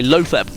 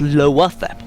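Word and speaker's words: Loatheb: a lot of people say low Theb, and Sottle is one of these players that kind of says, no, it's lower Theb. And he tells people off. So I'm trying to think rightly so. It's spelled lower Theb.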